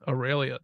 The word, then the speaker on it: Aurelia: My next one would be Aurelia. Is that her name? Is that how you say her name? Yes, Aurelia.